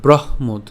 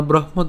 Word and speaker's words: ব্রহ্মোদ: কেন ব্রহ্মোদ? যেখানে আমাদের যুক্তবর্ণটি আছে, একে যদি আমরা ভাঙাই কি পাই? হ হসন্ত এবং হচ্ছে ম পাই। ঠিক আছে, তো এখন উচ্চারণ করার সময় বয় রফলা হ আমরা একসাথে উচ্চারণ করবো, তাহলে ব্রহ, এবং ওকারটাকে আমরা উচ্চারণ করছি ব্রহ্ম, এবং পরবর্তীতে যে দটা আছে এই দকে আমরা নিয়ে আসলাম, তাহলে ব্রহ্মোদ।